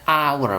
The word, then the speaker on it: hour: Kalau dilihat hurufnya memang H ya, pakai huruf H di sini ya, tapi bacanya bukan dibaca H ya, bukan dibaca hour, tapi dibaca hour, bacanya A, bacanya vokal, bukan konsonan ya.